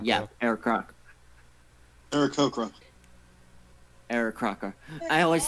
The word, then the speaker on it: Aarakocra: Arakaka? Yeah, Arakaka. Aarakocra.